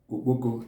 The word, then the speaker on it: oboko: So stock is known as oboko in Igbo language.